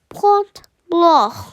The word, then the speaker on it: Point Blanc: in the french alps is pronounced point glo point blah he split he sprayed